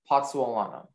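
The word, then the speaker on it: pozzolana: Can you repeat the pronunciation? Just the one, Potsawalana.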